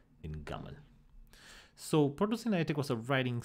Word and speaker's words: gaml: So in Sinaitic, these would have been pronounced alp, bait, and gamel. But the signs were reinterpreted to stand not for the whole sound, but for the first sound.